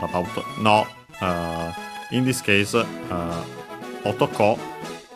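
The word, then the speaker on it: 男: Be careful that despite the rules we have mentioned about no, in this case, otoko on its own would be accented on the last syllable, and would mean man or male.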